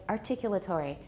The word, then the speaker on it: articulatory: articulatory targets all right that sounds sort of british although my british teacher doesn't say it that way it's articulatory everybody please remember it i